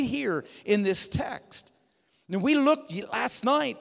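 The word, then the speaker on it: τε: the Greek there's a there's a a conjunction te T is how you'd pronounce that and most of the time in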